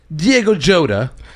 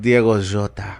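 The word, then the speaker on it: Diogo Jota: in instead of him i love how the english say his name diego jodah well i think it is jota isn't it it's like diego jota yeah but i just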